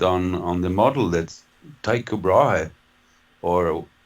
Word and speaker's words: Tycho: on the model that tycho brahe or we pronounce it tico in swedish see but anyway i'll